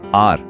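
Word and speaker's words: hour: आर इसमें H silent है और आवाज आ से शुरू होती है जो वोवेल साउंड है।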